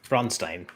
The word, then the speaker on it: Bronstein: from the south yeah I hate that that whole Steen stuff and people even like spell it as Steen it's like no it's Stein it's German for stone and it's Stein yeah jeffrow makes an